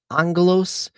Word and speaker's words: Aggelos: Angalos is the Greek pronunciation for Angel. So Angalos 2 is a a Metroid Vania game.